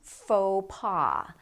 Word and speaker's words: faux pas: And faux pas. A faux pas is something that you mistakenly do that causes embarrassment. A faux pas. Notice that the X and the S are silent.